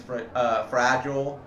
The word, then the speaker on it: fragile: The real pronunciation is fragile, but in the movie they say the father says fragile.